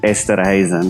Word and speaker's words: Esterhuizen: Yeah, it's my wife doesn't love me because of this, but it's Esterhuizen.